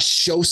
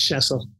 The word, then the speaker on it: Schoesse: checked on this beforehand shows am I saying your last name right close enough it's Cecil Cecil I've been saying it